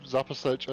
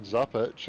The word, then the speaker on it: Zapasic: And I believe Zapasic is the correct way to pronounce Chris's name. I think we were actually saying Zapic, and I actually received